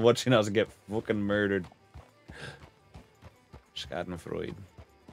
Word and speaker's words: Schadenfreude: A little bit of the Skyden fraud. Schadenfreude. Was it Schadenfreude? Either way, it's enjoyment in somebody else's misery. Getting that and watching us get fucking murdered. Schadenfreude. Pretty sure that's how it's said.